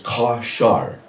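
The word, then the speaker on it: קָשַׁר: The Hebrew word for to bind is kashar. That's spelled Q-A with a little triangle over the A, little rooftop over the A, K-A-S-H-A-R.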